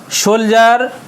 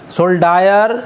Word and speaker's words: soldier: सोल्जर, सोल्डायर, DIER है, देखिए तो सोल्जर पर ही इसको उच्चारण, सिपाही, सैनिक।